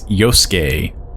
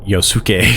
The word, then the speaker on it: Yosuke: Also, I think I've been mispronouncing his name. It's Yosuke. I think I've been pronouncing it Yosuke.